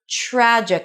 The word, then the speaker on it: tragic: So the TR at the beginning are pronounced as a ch. Trickled. And then trickled on down into some tragic, another TR transition, tragic casual corner.